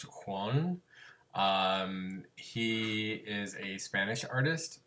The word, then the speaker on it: Joan: His name is Juan Miro. It is spelled Joan, but it is pronounced Juan.